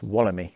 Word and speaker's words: Wollemi: I got corrected on a previous pronunciation. It's Walemi, I believe.